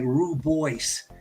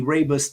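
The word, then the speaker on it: rooibos: H South America rabus and it's spelled r o o b o i s so it's going to look like ruboy so uh but it's actually rabus T and is founded in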